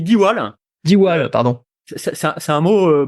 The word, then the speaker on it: Diwall: Ça se dit diwal.